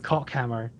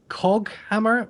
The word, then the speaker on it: Coghammer: So The Twitch chat keeps thinking we're saying Cockhammer. how do you pronounce it's causing it them correct? Coghammer with a G, not Cockhammer. Okay, Coghammer. Coghammer. Let's do it with like it's got a U after it.